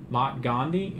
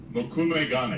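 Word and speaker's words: mokume-gane: So before we had, and forgive me if I pronounce it incorrectly, but we had Mott Gandhi. Was that the Makume Gane.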